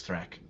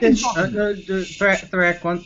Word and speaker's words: Thrak: Uh, did he say his name was Thrak? I heard Thra. Yeah, you did not know that my name is Thrak. I'm right. Thrak.